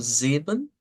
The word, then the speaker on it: sieben: El 7, pues lo vamos a pronunciar como sieben, y el 25 quizás es donde haya un poco de más dificultad.